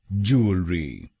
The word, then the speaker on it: Jewellery: तो बनेगा ज्वेलरी, ज्वेलरी। जू अल री, जू अल री, ज्वेलरी, ज्वेलरी। और ये ध्यान में रखिएगा कि हमको पहले शब्दांश पर यानी JEW पर जोर डालना है।